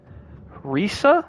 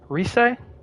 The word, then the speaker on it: Rise: You've got Chie, Yukiko, Risa? No, that's not. Rise? No. No, watch it on your. Gotcha. I feel like I'm pronouncing her name wrong. The Idol. I don't remember. I think it is Rise. You've got her, and then you've got no. You were right the second time.